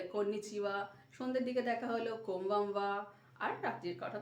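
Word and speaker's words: こんばんは: কোমবামওয়া। কোমবামওয়া। এক্ষেত্রে আমরা লিখছি কোন বান হা, উচ্চারণ হচ্ছে কোমবামওয়া, অর্থাৎ কোমবামওয়া হচ্ছে গুড আফটারনুন।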